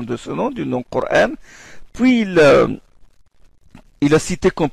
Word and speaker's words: Coran: s'appelle Ibn Kathir al-Makki, il lit Coran. Il ne lit pas Coran. Quand il le terme Coran, il ne prononce pas la Hamza. Il fait le tashil.